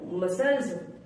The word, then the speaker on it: muscles: एस के बाद आया सी हमेशा साइलेंट होता है। जैसे एसेंट, ASCENT, एसेंट। जैसे डिसाइपल, DISCIPLE, डिसाइपल। जैसे मसल, MUSCLES, मसल्स।